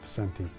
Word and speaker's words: Picente: United County Executive Anthony Picente is it pronounced Picente or Picente? Picente.